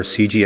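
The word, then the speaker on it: CIGI: for international governance innovation or CG as we say my name is Fred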